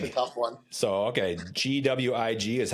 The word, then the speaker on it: McGuiggan: So, okay, Gwig is how you pronounce the middle part of that? Yep, Gwigs.